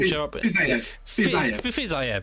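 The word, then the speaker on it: Fiziev: Maybe we get to see Rafael Fizz, I can't remember how to pronounce his name. Fizzayev, there we are.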